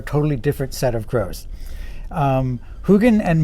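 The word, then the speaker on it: Huginn: named huggin and moonen when i was a kid i pronounced him huggin and munnon i think i was confusing them with heckle and jekyll who are a totally different set of crows hugin and moonen are also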